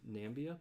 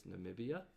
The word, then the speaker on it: Namibia: number of syllables because I thought it was nambia but it's Namibia and I forgot what